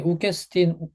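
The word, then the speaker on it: οὐκ ἔστιν: 네, 우케스틴 원래 우케스틴하고 읽으시면 돼요. 욱에스틴이라고 읽은 거는 제가 좀 강조하느라 그런 거고요.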